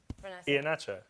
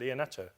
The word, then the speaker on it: Iheanacho: Iheanacho. You see the problem. You see, you made this case for him. That just ended there. Iheanacho, my pronunciation of Iheanacho is closer to the correct pronunciation than yours.